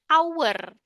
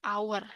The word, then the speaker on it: hour: Kata ini pronunciation-nya adalah hour. Ini hour. Berarti kan vokal. Karena dia dibacanya kayak vokal, berarti jadinya in-an. Padahal huruf pertamanya H. Huruf pertamanya konsonan. Tapi karena dia dibacanya hour, jadinya an.